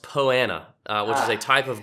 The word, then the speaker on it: Poa annua: opportunity to redeem himself from pronouncing poana as Poa Annua a few years ago